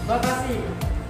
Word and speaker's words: Bacasi: Ternyata oleh orang-orang lokal atau pribumi, Bacasi itu sulit disebut karena pelafalan Bacasi itu adalah Bakasi. Nah itu pelafalan orang-orang penjajah. Maka dari itu orang-orang pribumi menyebut Bacasi menjadi Bekasi.